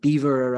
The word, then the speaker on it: Belvoir: the witches of Beaver, which is spelled Belvoir, Balvoir, but I'm reliably informed is pronounced Beaver after the castle of the Earl of Rutland. So these witches of Beaver are primarily the Flowers,